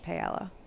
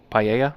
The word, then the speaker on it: paella: So, I guess which of those is most similar to Spanish pella? Paella. Paella. This is why I can't pronounce things.